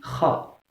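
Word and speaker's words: خ: Donc, comment les Espagnols prononcent cette lettre? C'est Kha.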